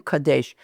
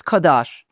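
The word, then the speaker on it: קדש: I don't like saying kadash. Kadash just sounds so weird. I'm saying kadesh.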